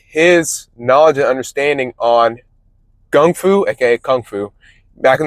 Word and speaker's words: gung fu: knowledge and understanding on gung fu aka kung fu back in the 60s they call it gung fu because that's how it's pronounced in China kung fu but later